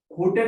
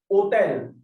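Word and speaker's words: hôtel: hotels we write it we write letter H but we never pronounce it okay we skip the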